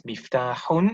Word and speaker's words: مفتاح: So the word for a key is miftahun as far as we are concerned, because of the pronouncing the endings of the words.